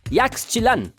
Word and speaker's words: Yaxchilan: E as cidades maias também são difíceis de pronunciar. Yaxchilan.